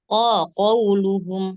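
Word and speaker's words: قولهم: Qauluhum pakai qaf. Yang mencucu qafnya. Nah, baru waw mencucu.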